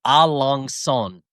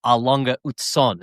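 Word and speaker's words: A. Lange & Söhne: going to be on it's called A Long Son. But I think how you say it is A Longa Ut Son. It's like a German brand, one and the same.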